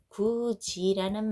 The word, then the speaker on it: 굳이: 그러면 얘는 정답이 아니죠 2번 볼게요 구지라는 말이에요 굳이 굳이 들으시란 말이에요이 몸 앞에서요 뭘로 바뀌었어요 참아 볼게요 여닫이라는 말이에요 자 어떻게 발음이 되고 있어요이 몸 앞에서 디귿이 지읒으로 바 뀌었죠 그러면 2번 3번은